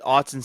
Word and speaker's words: Autzen: In what year did Autzen Stadium open?